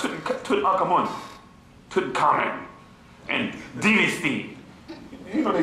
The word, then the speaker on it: Tutankhamun: Tut, Ankh, Amun. You bastards. But you want to say Tutankhamun. Come on. How do you not pronounce the Ankh or the Amun in the name?